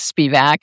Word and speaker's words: Spivack: Thanks very much for having me, for protecting me, for, pronouncing my name correctly. It is Spivack.